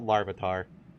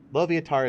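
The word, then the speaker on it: Loviatar: Dom isn't that loviator how do you pronounce loviator no not Larvitar lovatar is the goddess of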